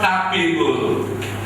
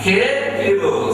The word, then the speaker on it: capable: And the next one, C-A-B-A-B-L-E is not capable. Rather, capable. Say it.